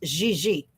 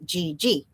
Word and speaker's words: Gigi: It is pronounced French, where it's not a hard G. It's Gigi, which is obviously a French name, but all the Americans say GG, which is fine.